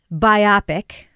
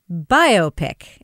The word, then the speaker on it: biopic: is pronounced is not biopic as Kevin o says it is biopic as in a bio picture and I just want